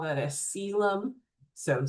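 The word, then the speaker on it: coelom: We call that a cylum. So spelled colum, but it's pronounced cylum.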